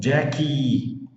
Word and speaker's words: Jackie: Terminou com IE, você fala o som de vogal. Ó, Jackie, Jackie, Jackie. Apesar que Jackie é uma palavra do inglês, mas termina com IE, então pronuncia a vogal.